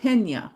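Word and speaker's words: Peña: Oh, Pena. Okay. Pena um is the name in Spanish. Okay. Pena. Well, that's interesting. Even though there's no Y in there, it's there's a Y sounding.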